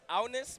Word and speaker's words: Agnes: And fun fact for Agnes, her name is pronounced Agnes, but our mouths don't really do that in English.